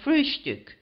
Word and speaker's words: frühstück: but always call it frühstück, with a special emphasis on the first syllable.